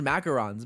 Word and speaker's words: macaron: No, it's pronounced macarons. Macaroons and macarons are two different things.